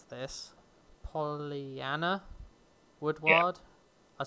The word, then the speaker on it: Pollyanna Woodward: The TV presenter, and I'm going to try and pronounce this, Pollyanna Woodward. Yeah. I said it right? Yeah, Pollyanna Woodward.